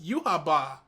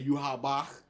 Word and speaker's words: Yhwach: Bleach, and there is no definitive way to pronounce his name. Yeah, I thought that the kanji or the romanji was Yuhaba. Yeah, I say Yhwach because that sounds silly, and that's the way that I've heard it most commonly.